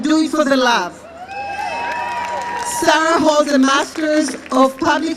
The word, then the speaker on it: Sara: Actually, I love pronouncing her name because in English, you'll say Sarah, but in Hebrew it's Sara, so it's easier for me.